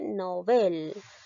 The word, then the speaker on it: Nobel: tienes que pronunciar ahora te vas a basar en mi pronunciación que dice novel novel donde lleva la mayor fuerza de voz en la sílaba del nobel por lo tanto esta palabra llega a ser una palabra aguda porque la mayor fuerza